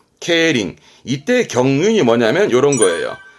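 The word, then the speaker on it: 競輪: 케바 바 뒤글자 했던 거 바퀴륜 자거든요 경륜이 발음은 케링 케링 이때 경륜이 뭐냐면 요런 거예요 자전거를 가지고 합합니다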